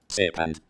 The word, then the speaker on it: Sepand: Sepand.